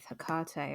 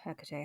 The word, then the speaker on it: Hekate: I still have a lot of respect for Thoth, but what ended up happening with Hekate, or Hecate, however you want to pronounce it, it was actually Christmas of all things.